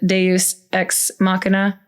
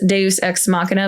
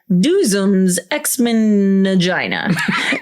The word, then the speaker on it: Deus ex machina: on it and it's supposed to be the pronunciation. So it has Deus ex machina, but he's like, Duzum's ex-mangina.